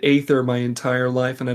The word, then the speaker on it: aether: Yes, I know, listener, that it's pronounced ether in game, but you know what? I've said aether my entire life and I don't feel like stopping.